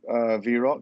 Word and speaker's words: VROC: Now, I think the first question people want to know is how do you pronounce VROC? It's actually VROC, not VROC or VROC.